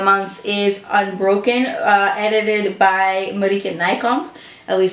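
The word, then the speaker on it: Marieke Nijkamp: is unbroken edited by buddy can I come at least that's how you say her name in Dutch she's got a Dutch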